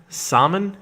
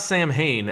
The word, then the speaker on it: Samhain: as we prepare for how do you say it saman it's not Samhain as they would have you say in the first Halloween movie or the second Halloween movie actually it is more like summer it's like Psalm